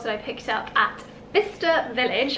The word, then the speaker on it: Bicester: i picked up at vista village i had a couple of people ask how to pronounce it because in the last video i called it by chester but i just call